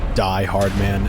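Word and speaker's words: Die-Hardman: the word car goodbye die hard man and dead man pronounced die hardman and dead man though not deadman sam this is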